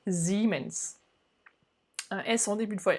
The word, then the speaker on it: Siemens: habitées ont été pourra plus tôt siemens mais normalement ce serait plutôt ziman elles sont des buts